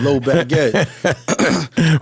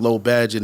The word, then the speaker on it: LOE Badgett: LOE Badgett. Where they I don't know why people mispronounce it. Yeah, man. People keep calling me LOE Badgett like I'm a piece of bread or something, man.